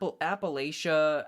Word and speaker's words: Appalachia: Um App Appalachia, Appalachia. It can be pronounced either way.